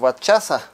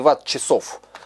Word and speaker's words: ватт-часа: Здесь батарея, сейчас вспомню, на сколько ватт-часа. Кстати, правильно говорить именно ватт-часа, а не ватт-часов. Многие говорят неправильно.